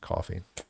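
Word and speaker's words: Ko-fi: And uh the link for that is in the description below again, and it's KOFI, whether you pronounce it, coffee.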